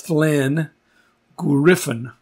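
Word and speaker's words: Llangwyryfon: The way that that is pronounced, you take a double L and you put your tongue up at the top of the roof of your mouth and you say, so that's Thlen Griffin, Griffin, Thlen Griffin.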